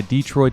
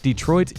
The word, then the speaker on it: Detroit: Now we're in Highland Park, a city that's completely surrounded by Detroit city limits.